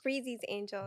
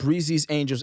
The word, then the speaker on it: Breezy's Angels: But like excuse me, the Breezy's Angels. Am I saying it right? Breezy Angels or Breezy's? Breezy's Angels. Breezy's Angels NYC.